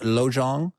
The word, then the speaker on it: Lojong: Is it, how do I pronounce that? Lojong?